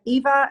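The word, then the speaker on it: Ewa: Like Eva, it's Eva in Polish language. That's Eve in English. So but you can call me Eva, Eva. But in Poland, Okay. we pronounce the name Eva.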